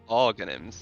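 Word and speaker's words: Aghanim's: Okay, so it's pronounced Arganims. Okay, Arganims.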